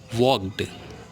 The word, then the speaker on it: walked: Second, वॉक्ड. WALKED, वॉकड। एल को हम लोग यहाँ पे ओमिट कर देंगे, साइलेंट कर देते हैं ना, तो ये हो जाता है वॉकड, मतलब चला या चला गया, है ना।